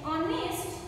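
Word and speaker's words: honest: confuse हो जाते हैं, एच, एच इज the consonant sound word, but students हमारा एच क्या होता है, हाइड होता है, साइलेंट होता है, हम इसको कैसे प्रोनाउंस करते हैं, ऑनेस्ट, ऑनेस्ट, ओ इज the sound कैसे आ रही है, वोवल साउंड आ रही है, देन स्टूडेंट्स आप क्या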